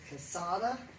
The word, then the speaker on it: Cossotta: Cossotta, is that how you pronounce Yes.